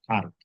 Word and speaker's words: harto: Pero realmente la pronunciación estándar es que no hay, sino que es harto.